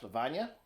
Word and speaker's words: Lavanya: So I'm sitting here with my cousin Aaron, and his beautiful wife Lavanya. Yeah, that's it. It's a perfect pronunciation.